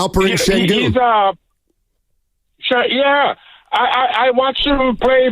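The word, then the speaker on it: Alperen Şengün: I would draft is Shagun. How you say his name? Yeah, Alperen Sengun.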